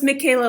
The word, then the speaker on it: Michaela: So, it's Michaela like with a K. Yeah, but it's spelled like with the H.